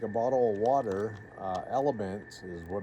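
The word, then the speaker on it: LMNT: There's another thing is I take a bottle of water, uh, elements is what it's called. LM NT is how it's spelled. Mhm. But it's called element.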